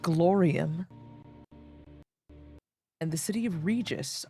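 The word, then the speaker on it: Rigus: and the city of Regus, R-I-G-U-S. Really stretching the phonetics of those letters there. Regis.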